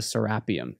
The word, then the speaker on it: Serapeum: It's actually pronounced the Serapeum.